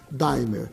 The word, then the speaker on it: D'AIMER: Nós resolvemos nacionalizar a marca, a palavra d'aimer em Daimler, para que todas as pessoas possam, em qualquer parte do Brasil, pronunciar a palavra como ela é lida, Daimler, tá certo?